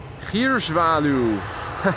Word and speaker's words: Gierzwaluw: Gierzwaluw is how you should pronounce this.